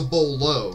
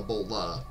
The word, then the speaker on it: bolo: you use to well that's a bolo not a Bola it's actually three little